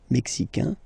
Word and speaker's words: mexicain: Le Mexique, mexicain, un here, like we had in américain, A-I-N, mexicain, and then mexicaine, mexicaine.